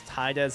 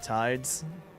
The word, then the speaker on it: Tidez: Yeah, they always pronounce Tidez as like Tidez, not Tides.